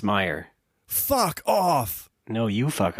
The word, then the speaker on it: Meier: But is it Meyer? I've been saying Meir. It's Meyer.